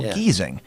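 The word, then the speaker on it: Giesing: the German language you the first vowel after the consonant is silent and you pronounce the next one say that before so like g i e ignore the I pronounce the E so geesing and then like you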